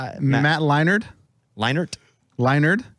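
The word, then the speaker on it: Leinart: Leonard who Leonard Who Matt Leonard have I said it wrong Matt Leonard leinert Leonard there's a t in there you're saying a d you're saying a d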